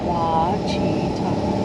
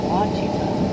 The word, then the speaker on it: Ouachita: And they were very kind in how they did their best to spell it for me. Ouachita. Yes. Ouachita.